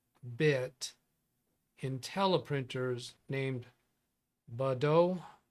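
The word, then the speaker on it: Baudot: in tele printers named Bodo code or Bodo yeah I think silent T do you mean five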